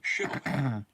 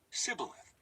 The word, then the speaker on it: Shibboleth: If the man said, "No, I'm not," they would tell him to say Shibboleth. If he was from Ephraim, he would say Sibboleth, because people from Ephraim cannot pronounce the word correctly.